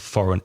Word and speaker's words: foreign: Be careful with the spelling of foreign. F-O-R-E-I-G-N. Pronunciation, foreign.